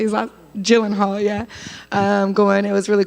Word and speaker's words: Gyllenhaal: I was I remember watching Jake Gyllenhaal. I don't know how to say his last. Gyllenhaal, yeah, going.